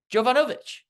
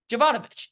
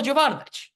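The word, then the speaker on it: Jovanovich: the Rim second possession Danilo jovanovic javanovich there we go Danilo javanovich I've had trouble pronouncing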